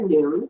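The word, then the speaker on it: נון: noon the Hebrew letter noon pronounced moon like High Noon is attributed to key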